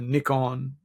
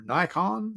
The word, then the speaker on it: Nikon: So I bought a Nikon or Nikon, depending on how you like to pronounce it, D7000.